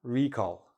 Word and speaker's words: recall: there any recalls the not the verb recall noun recall where the stress is on the first part a recall is when